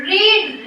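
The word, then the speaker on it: read: की क्या कहते हैं रीड रेड रेड स्पेलिंग वही रहती है लेकिन इससे क्या पढ़ते हैं रेड I shall have रेड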